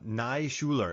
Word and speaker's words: Naishuller: he and the director uh Ilya nashula uh Nai Schuler and listen you heard me learn his pronunciation before this episode I was sure man